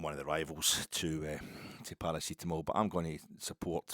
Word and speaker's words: paracetamol: That's how it's pronounced. I mean, it's funny. He couldn't pronounce it right. Could he? He pronounced it Tylenol. And no, it's Paracetamol.